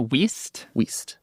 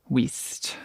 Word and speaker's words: Wuest: So it's pronounced Wuest. Wuest.